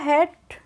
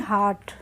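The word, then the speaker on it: hat: अब इसको पढ़ते हैं अब यहां पर ए की साउंड को हम क्या पढ़ेंगे ए की मात्रा कभी जब ई होती है तो हम आ की साउंड लेते हैं और जब ए होती है तो कभी-कभी हम ई की साउंड आती है इसमें तो हम इसको पढ़ते हैं हेट ना कि हार्ट तो द हेट ऑफ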